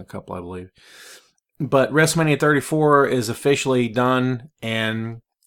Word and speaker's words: WrestleMania: mania 34 and yes I must pronounce the T because it's just so much fun WrestleMania 34 man the show